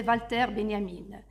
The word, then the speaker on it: Walter Benjamin: Marx Carl Manet et Valter Benyamine qui qui s'écrit Walter Benjamin puisque c'est un philosophe allemand donc c'est Valter Benyamine ces auteurs par leur